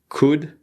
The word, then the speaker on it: could: properly we have would could and should so as you can see these L's need to be silent would could and should